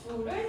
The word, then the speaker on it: 줄: 에너지는 영어로 E로 시작하니까 기호 E를 사용하고 단위는 J라고 쓰고 줄을 사용합니다. 줄이라고 읽어요. 이 줄.